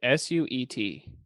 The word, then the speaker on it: suet: S-U-E-T.